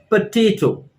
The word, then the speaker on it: potato: this and this is potato potato see over here the stress is on the second syllable or the second part of the word potato potato so friends